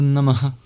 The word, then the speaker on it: Namah: Namah has a very interesting sound at the end, which is an expulsion of breath. And when it's before a voiced sound, it turns into the labioguttural vowel O. Namo Namah.